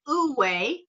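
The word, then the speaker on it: Wu wei: And then Uwe, which is a type of meditation. It's spelled Wuwei.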